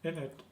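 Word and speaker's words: __init__: And I should call this method init. It's not, it's pronounced without the 2 underscores, and I can see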